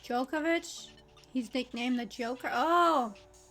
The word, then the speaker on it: Djokovic: He's pronounced Djokovic.